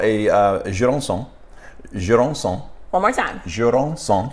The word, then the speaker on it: Jurançon: Okay, let me put Jurançon sec.